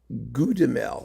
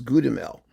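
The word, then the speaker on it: Goudimel: you probably don't know Claude Claude goudamel oh it's good mail but it's spelled like with the old you know the V you thing I did the back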